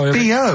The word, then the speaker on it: B.O.: No, it's B.O. It's B.O. That's pronounced B.O. Well, yeah, but you've got to play... It's not pronounced bow, and it's not spelt bow.